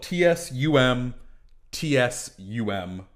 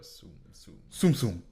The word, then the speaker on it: Tsum Tsum: It's spelled Tsum Tsum, pronounced like zoom, but Tsum Tsum.